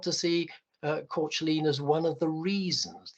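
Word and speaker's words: Caitlin: I think she was Irish in background, so I think Courtleen is probably nearer to the correct pronunciation of her name, although Dylan called her Kathleen, or even Cat for short.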